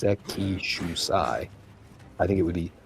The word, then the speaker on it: Sekishusai: Because I think they typically put the emphasis on like one of the earlier. They do the first one. Yeah. If it's English speakers typically do the second one. Yeah, it's gonna be the third syllable from the end, I think.